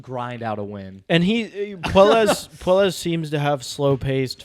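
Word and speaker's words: Puelles: Yeah, Puelas.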